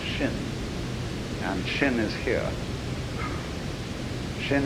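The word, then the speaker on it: 心: my mind in Chinese the mind is this word pronounced shin and shin is here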